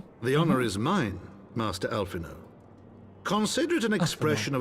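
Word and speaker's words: Alphinaud: The honor is mine, Master Alphino. Consider it an expression of our gratitude for your service to Ishgard. I always forget the D is silent in his name.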